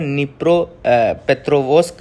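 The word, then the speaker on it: Dnipropetrovsk: तो यहां पे जो हम बात करेंगे वो है निप्रो पेथ्रोवस्क। अह तो यह जो जगह है डेनिप्रो या डिनाइपर में इसको नीस नहीं पढ़ा क्योंकि डी इसमें साइलेंट रहता है।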